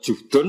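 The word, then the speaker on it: جهد: * Wa fa jahdi al-jahd*, ada yang membacanya * juhdun*, ada yang membacanya * jahdun*, biasanya dibaca * jahdun*, yang penting konsisten .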